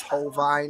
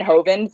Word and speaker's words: Hovind: No, it's because Brett Keane always mispronounces it as Hovine. Oh, okay. I was like, I've been saying Kent Hovind for like years.